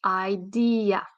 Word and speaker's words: idea: idea so you see there are three syllables there is stress on one of them what is it idea so it's the second syllable that has stress idea and that's very